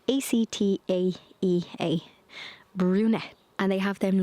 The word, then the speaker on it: Actaea: Acatea? No, that's not how to say it. Actaea, brunette.